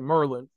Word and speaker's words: Maryland: place called Maryland but let me say it right Merlin Merlin James lampin man